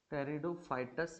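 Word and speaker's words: Pteridophytes: कैसे, टेरिडोफाइटस जो होता है आपका वो आपका पी से शुरू होता है और उसमें पी साइलेंस रहता है।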